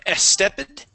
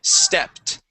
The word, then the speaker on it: stepped: Here you had said estepid. Okay, so let's focus on that S, only pronouncing the S at the beginning, and the ED ending. Okay, so this would be stepped.